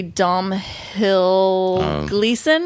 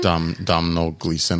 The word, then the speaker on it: Domhnall Gleeson: It's got what's his name that I can never pronounce correctly, Domhnall Gleeson. Domhnall Gleeson, I think right.